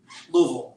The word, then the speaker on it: Louisville: Louisville, it's 2 syllables, by the way.